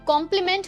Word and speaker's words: compliment: अगले दो वर्ड्स हैं कॉम्प्लीमेंट वर्सेस कॉम्प्लीमेंट। यहाँ पर भी स्पेलिंग का डिफरेंस है एंड प्रोनाउंसिएशन बिल्कुल सेम है।